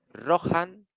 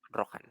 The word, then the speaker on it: Rohan: señores de los caballos en la pronunciación de gondor ch como en alemán cales etcétera se ha suavizado hasta convertirse en una aspirada aproximadamente J una H aspirada aproximadamente J en castellano Así rohan iia suena como rohan